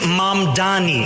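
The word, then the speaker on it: Mamdani: And furthermore, the name is Mom Dani. M A M D A N I. You should learn how to say it.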